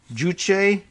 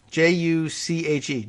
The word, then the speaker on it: juche: north's ideology of uh who knows how that's pronounced juche j-u-c-h-e juche or self-reliance to the test north korean